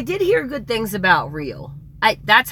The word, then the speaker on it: Roehl: Is it Real? I know it's not Roll. I know, like, they on one of their ads, that's who you're talking about. ROEHL, but it's like pronounced Rail or Real. I think it's Real, but I'm not positive.